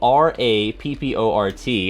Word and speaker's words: rapport: right it's spelled a it's spelled r-a-p-p-o-r-t and every time I see it I want to say Rapport but it's no rapport so you're gonna say